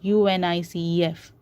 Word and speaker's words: UNICEF: is pronounced as UNICEF you don't pronounce it as u n i c e f you pronounce it as